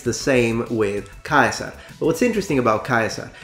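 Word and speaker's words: Caesar: so the idea is they still use a k sound because ancient tribes of that area in that period heard it as a k sound the diphthong was I it wasn't just e and most importantly the C is hard these are just a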